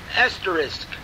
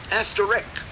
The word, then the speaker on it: asterisk: much problem with is the word asterisk which they all say esteric and this is a